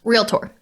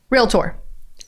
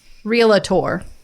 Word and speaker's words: realtor: the history of realtor there's no a it's not three syllables real tour realtor realtor that is how you